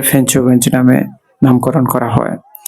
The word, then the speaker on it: ফেঞ্চুগঞ্জ: পরবর্তীতে ফেঞ্চুগঞ্জ কে ফেচুগঞ্জকে ফেঞ্চুগঞ্জ নামে নামকরণ করা হয়। যদিও আমরা ছোটবেলা ফেচুগঞ্জ এর নাম উচ্চারণ করতাম এবং শুদ্ধ ভাষায় এরকম হয়েছে।